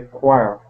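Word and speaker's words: quire: Also, there is the choir, where the choir... that other word is choir too.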